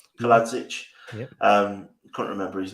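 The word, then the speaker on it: Kalajdžić: Kaladzic.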